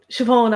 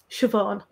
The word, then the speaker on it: Siobhán: i think you hear irish speakers pronounce it more with an emphasis on the first syllable siobhan i suppose it depends